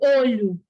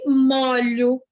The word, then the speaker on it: molho: até pensar até Laís Mas a escrita Tá igualzinha certo mas e a pronúncia não é igual ó macarrão com molho molho fechado eu me molho aberto então não tem como